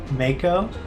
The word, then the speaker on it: Mako: corrected President Shinra for saying Mana instead of Mako, but it's just that he said it Mako, which is I guess how it's pronounced.